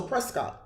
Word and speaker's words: Prescott: way like Scott oh like you pronounce it with Scott so Prescott okay got it down to Prescott so I want to